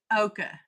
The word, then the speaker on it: ocher: help you with that the correct pronunciation of ocher is Ocha really and occur okay